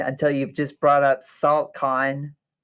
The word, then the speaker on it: NACLcon: And if you haven't caught on by now, that's the chemical what you call it for salt. So we pronounce it saltcon.